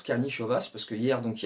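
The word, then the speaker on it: Karnišovas: suis content de moi c'est bel et bien comme ça que ça se prononce karni chevasse parce que hier donc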